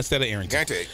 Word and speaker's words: Arrington: fling Fleming Fleming I'm sorry you know I mispronounced my name I say Arlington and Arington so we're going to have her coming up